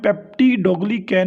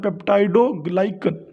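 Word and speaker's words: peptidoglycan: ठीक है, अब इसकी प्रोनाउंसिएशन बच्चों आपने पेप्टिडोग्लिकैन नहीं पढ़ना, पेप्टाइड बॉन्ड पढ़ा था ना, उसी तरह पेप्टाइडोग्लाइकन, यानी कि बच्चों इसमें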